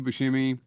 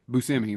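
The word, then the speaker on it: Buscemi: the whole scene with Steve Bushimi. Actually, it's Steve Buskimi or Busimi. Busousimi, that's what it is. I've been saying it wrong for 30 years.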